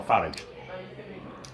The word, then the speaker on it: Farage: But he's actually said he doesn't mind whether it's Farage or Farage.